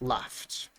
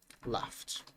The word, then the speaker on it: laughed: The ed is pronounced as a t. And here is the same thing. Laugh. The word laugh is pronounced with a f sound, right? So it's laughed. laughed.